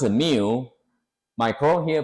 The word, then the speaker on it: mu: upper case in a capital in a capital pronounce Mu my code here pronounce a mu again.